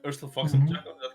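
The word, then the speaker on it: Urstul Floxin: Does the name Erstil Flox? Am I pronouncing it right? Erstil Floxen.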